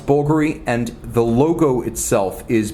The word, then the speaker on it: Bulgari: Greek for an Italian a jeweler so it's pronounced vulgar E and the logo itself is BV L of